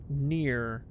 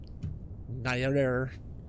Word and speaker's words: Nier: Near. Is it... Am I saying it near or is it Nier? Man. Nier. Through like 3 syllables in it.